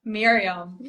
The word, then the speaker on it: Mirjam: up my name because it is spelled Mirjam, Yes, but it is actually pronounced Miriam. Miriam. So, Yeah. yeah, you just need to think like the J is an I. That's what you need to Okay.